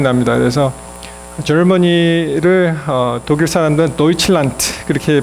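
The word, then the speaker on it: Deutschland: 그래서 저머니를 독일 사람들은 도이칠란트 그렇게 발음하잖아요.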